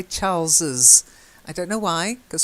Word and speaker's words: Charles's: the last bit is Charles's wife okay now often with the possessive you might say Charles wife but we tend to say Charles's I don't know why